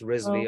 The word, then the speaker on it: Rizvi: I just want to add, my last name is spelled wrong. It's Rizvi, Oh.